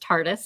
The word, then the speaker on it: TARDIS: It's pronounced TARDIS.